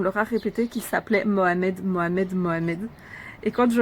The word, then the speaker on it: Mohamed: Parce que j'ai eu beaucoup d'enfants qui me disaient par exemple, moi je m'appelle Mohamed. Mohamed, ben non, c'est Mohamed.